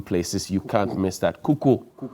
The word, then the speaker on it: Kuko: Kuko. Wow. So the U is silent.